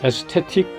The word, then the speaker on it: aesthetic: 영어로 aesthetic distance. 미국 사람들은 에스테틱을 에스테릭이라고 발음합니다.